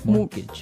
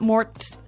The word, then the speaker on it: mortgage: with a t yeah it has a t in it but you don't pronounce it you say mortgage morgage so not Mort mortgage not morgage morgage